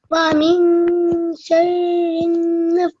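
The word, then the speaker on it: وَمِن شَرِّ: It's not the noon, you don't pronounce the noon. You hide it somewhere in your mouth and make a nasal sound.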